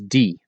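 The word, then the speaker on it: die: Those mean is d. Pronounce it and spell it as d i e.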